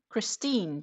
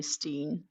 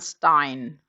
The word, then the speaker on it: Christine: It's like Christine, just no Cree. Of course, most people can say Christine, and then I'm okay with English speakers calling me Steen because it's an easier pronunciation. I can live with that, so to say. 2, 4, 6, 8. It's much better than Stein, which is the German word for stone.